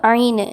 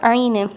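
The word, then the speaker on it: عين: இப்போது இது ஐனு, இது 18வது எழுத்து. இதற்கு புள்ளிகள் கிடையாது, மேலே கீழே புள்ளிகள் கிடையாது. உச்சரிப்பு ஐனு. இதை தொண்டையில் நெரிச்சு சொல்லணும். ஐனு, ஓகேவா?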